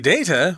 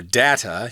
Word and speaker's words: data: And here in the third paragraph, it says, the data, or data, you can say it both ways, the data SBM has uncovered is alarming.